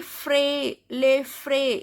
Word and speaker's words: frais: Then les frais, S is silent here.